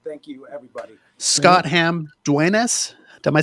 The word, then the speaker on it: Duenas: Scott Hamm Duenas. Am I saying that right? Duenas?